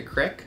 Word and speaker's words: creek: People in Wisconsin will call a creek a crick. I had a creek in my backyard growing up in Wisconsin, and my dad definitely called it a crick. It's Fish Creek. It's spelled C-R-E-E-K, not C-R-I-C-K, so... Right. It's a weird Wisconsin vowel.